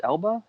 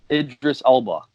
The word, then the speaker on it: Idris Elba: L how you say his name I just elbow elbow captain what's that yeah idris elba okay what's this character's name in the film